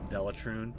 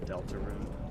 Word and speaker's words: Deltarune: And did you notice that I pronounced it correctly instead of Delatrune? I said Deltarune.